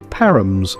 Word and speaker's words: Parham: Parham's story. The name Parham, the par is pronounced like the par in parrot, is thought to derive from the Old English Parham, a compound word meaning pear enclosure.